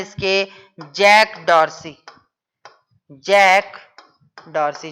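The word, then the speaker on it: Jack Dorsey: पहला है जैक डॉर्सी, pronunciation कर रहा हूं, ध्यान रखना, जैक डॉर्सी।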